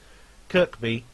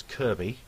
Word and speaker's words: Kirkby: than one object here Kirkby which I wrongly pronounce as Kirby in the last video